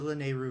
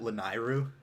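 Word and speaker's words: Lanayru: set out for the lenairu region i was as a kid i always pronounced it lanairu then i realized no that's wrong are you done uh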